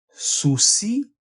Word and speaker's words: sino: significa destino significa destino se pronuncia siempre átona y dice así su sí era morir joven o